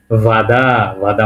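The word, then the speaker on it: вода: এর মত উচ্চারণ হবে ওটাকে এ এর মত উচ্চারণ করতে হবে এটা হবে ভ বাদা মানে কি পানি রাশিয়ান ভাষায় কি বলে পানিকে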